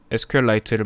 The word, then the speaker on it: SQLite: 그리고 지금 우리가 사용하는 SQLite도 참고로 지금 SQLite라고도 하는데 실제 단어에 대한 발음법은 SQLite가 조금 더 맞다라는 의견이 있더라고요. 실제로 이 SQLite를 만드신 분도 SQLite라는 이름으로 불려지길 원하신다라고 적힌 글을